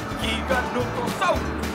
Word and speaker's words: Giganotosaurus: giganotosaurus Oye sabías que tuve que investigar cómo pronunciarlo busqué en internet y encontré un video del hombre que lo descubrió y le puso ese nombre interesante giganotosaurus así lo dijo en el video Sabes de dónde es